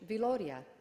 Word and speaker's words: Viloria: My mother told us that my father's ancestor was an Italian musician who spelled his name Villoria, dropping one of the L's to maintain the correct pronunciation, Viloria.